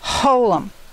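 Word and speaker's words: holam: it makes home o Holum like in koch Holum and it's a dot a dot above remember we had the the upper dot and the shin this is an upper dot and it's called a Holum we'll find that a Holum can be above any other letter but it gives it that Oh sound along with it so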